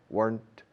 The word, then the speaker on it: weren't: If I weren't, if I weren't, una sola sílaba, weren't, no se dice weren't. If I weren't, rima con el pasado o el participio de quemar, burnt.